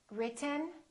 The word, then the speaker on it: written: how to produce it when we have a t followed by an N the t is held so so we hold our tongue right here behind our upper teeth and we don't release it we smoothly just go directly to the n Sound without moving our tongue down